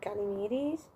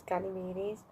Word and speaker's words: Ganymedes: Basically, we're in the perspective of Ganymedes. I've been saying it wrong, it's Ganymedes.